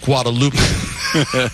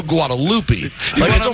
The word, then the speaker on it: Guadalupe: wouldn't I go with what I believe to be the proper pronunciation of Guadalupe why would I go Guadalupe because the kid's going to be a little off Guadalupe no you want to you want to americanize it thank you Don